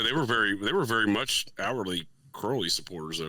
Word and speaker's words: Crowley: He was saying Crowley, not Crowley.